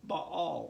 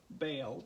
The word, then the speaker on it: Baal: northern tribes sacrificed to Baal or bail depending on how you want to pronounce that ba al and it was when